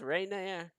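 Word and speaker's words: Renaer: promos right there he says my name is Reina do you all know who I am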